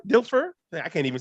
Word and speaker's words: Dilfer: their entire existence and those names are trent denfer dilfer i can't even say his name right that's